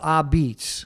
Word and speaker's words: Apizza: There was a place in downtown New Haven called Ah-Beetz. Mm-hmm. And that's how it was AH, I think, hyphen BETS or Z. How you say it? Abate. Apizza.